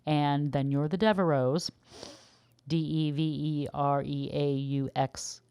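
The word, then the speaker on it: Devereux: in the letter X but it is pronounced silently so Devereau for example then instead of adding an es you would just add an S because the X is silent so it's really acting more like a vowel the last vowel you hear or the last sound you hear is an O so you just add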